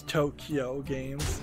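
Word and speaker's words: Too Kyo Games: Company 2 Q games t-o-o space k-y-o which I guess you could uh pronounce Tokyo games has been established uh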